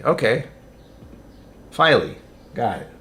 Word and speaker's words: Filey: Filey rhymes with Riley. Okay. Filey, got it. Filey Bay.